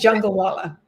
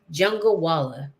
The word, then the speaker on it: Jungalwala: And my last name is Jungalwala. Jungalwala. Jungle. Yes. Okay. So just like it's spelled, pretty much. Okay. Yes. Think Right. jungle and then wala at the end.